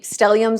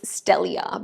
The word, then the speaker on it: stellia: stelliums really help PE stelliums or the correct way to say it is stellia but I don't want to be pedantic right so I'm going to say stelliums like the people would say it so it gives you